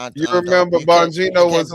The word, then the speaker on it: Bongino: Bonino. Bonino.